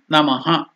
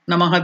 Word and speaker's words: Namah: That's why Gurave, Namaha. Namaha, there is no elongation, dirgha, Namaha. So sometimes the exact pronunciation of Visarga is Namah, half, it has to stop, it is half uttered.